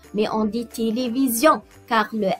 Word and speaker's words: télévision: Denise et Elisabeth regardent un film de Zorro à la télévision. Denise, oui, Elisabeth regarde un film de Zorro à la télévision. C'est très bien. Vous voyez comment le S ici est entre deux voyelles, le I et le I, donc elle se prononce Z.